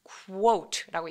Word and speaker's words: quote: 근데 이거 발음하실 때 코트 아니고 quote라고 얘기하시면 돼요.